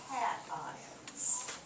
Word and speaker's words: cations: notice the pronunciation here in english usually a tion is like a shun sound vacation that kind of thing cat ions because you want to emphasize the ions so anions cations anybody